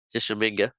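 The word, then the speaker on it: Tishomingo: Tishominga. Thank you. I'm like, I want to pronounce that right.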